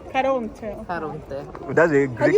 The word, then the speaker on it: Caronte: Ma ci sono diverse pronunce, Charon, Charon, I say in Charon, Italian language, Caronte. Caronte.